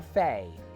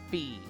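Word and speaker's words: Fie: listen all the time it's fee okay oh like fif F faam fee okay I keep saying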